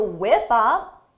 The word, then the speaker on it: whip up: give me 20 to whip up whip up is a phrasal verb for the pronunciation notice is whip up whip up whip up because of linking whip up whip up